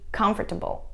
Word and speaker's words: comfortable: Часто люди неправильно произносят слова vegetable и comfortable. Да, не vegetable и comfortable, а vegetable. Comfortable.